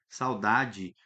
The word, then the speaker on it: saudade: tá lá no finalzinho, a gente fala ele, pronuncia ele como I, saudade.